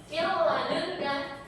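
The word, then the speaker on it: مِن لَّدُنكَ: Mil ladunka itu cara bacanya langsung dengan tidak mendengung. Mil ladunka, nun sukun ini bertemu lam.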